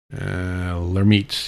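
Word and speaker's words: Lhermitte: And as it turns out, that's something called Lemaitre sign. Let me make sure I'm pronouncing this right. Lermite, yeah, it's pronounced Lermite sign, and generally, it's from when you tip your head down.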